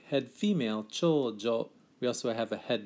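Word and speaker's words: 長女: Be careful of the pronunciation here. It's a long u on cho-u, but not on jo. So it's pronounced chojo, and that's reserved for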